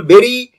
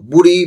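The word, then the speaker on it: bury: কি হবে তিনি বলছেন, বলছে you will বেরি your self, প্রোনাউন্সিয়েশনটা বেরি কিন্তু বুড়ি বা বাড়ি বলবে না।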